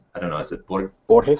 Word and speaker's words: Borges: by Jorge Luis, I don't know, is it Borges? How do you say it? Borges, yeah.